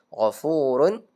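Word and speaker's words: غفور: Gfurun ya kan? Gfurun dibaca gfur jangan disamakan dengan hakiman hakima jadi gfurun gfuru bukan gfurun gfur bacanya ya innallaha apa ee azizun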